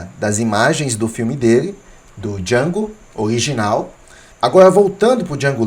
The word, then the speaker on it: Django: se pronuncia e aí o Django pronuncia o nome dele d j a n d o e ele ainda fala o d é mudo e o Senhor ele